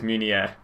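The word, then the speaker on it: Meunier: And the last guy is Munier.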